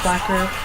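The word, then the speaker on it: Blacquer: I think that's what you pronounce it, blacker. But it's like black horror.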